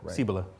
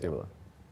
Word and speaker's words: Cibola: Help me with the pronunciation is it "seebola"--? DANIEL ABRAHAM: Cilbola. INTERVIEWER: Cibola.